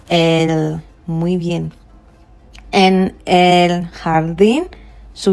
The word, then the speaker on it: jardín: En el jardín, so we are saying jardín, not jardín, because the J gives us the sound J.